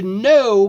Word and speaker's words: know: To know, be careful here because the K is not pronounced in this verb.